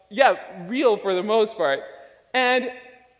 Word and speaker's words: real: See, in Portuguese, the way that you say real is real. So let me teach you how to say it. So on the count of 3, let's say he. So it's he, but without the e sound. So 1, 2, 3, he.